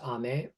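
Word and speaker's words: 雨: The word rain in Japanese is usually pronounced ame, and we are depicting something that comes from the heavens.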